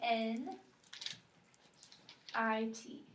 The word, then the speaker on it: knit: AJ's K inwards knit spell it k n i t okay and what letter is silent that we're going to cross out K and we're gonna say